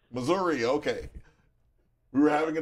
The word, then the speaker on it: Missouri: you one quick question do you pronounce it Missouri or mazury mazury mazury okay we were having